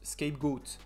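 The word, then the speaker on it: scapegoat: on trouve aussi le bouc émissaire qui se prononce skypegoat en anglais et qui donne indirectement pour certains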